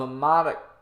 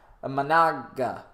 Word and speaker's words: Imanaga: came out of the left-handed arm slot of Amada. Gosh, I keep making that name wrong. Imanaga.